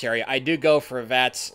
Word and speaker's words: VATS: It rhymes with hats. Can you guess what it is? Yeah, it's VATS mode.